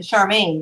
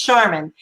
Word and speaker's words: Sharmin: charmin oh are you i think i pronounced it charmaine but it's charmin let me ask you